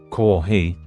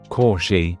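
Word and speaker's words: コーヒー: For example, words like higashi, kohi, or hyakuin might be pronounced as shigashi, koshi, and shakuin.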